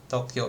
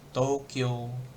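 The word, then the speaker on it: 東京: Tokyo. Tokyo. Hmm. Jadi kalau orang Jepang bilangnya Tokyo, Tokyo. Jadi O-nya yang panjang, U-nya kayak nggak ada U.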